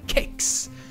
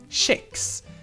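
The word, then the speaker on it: kex: thing is here that this is a loan word that normally is pronounced with hard K in other languages and loan words typically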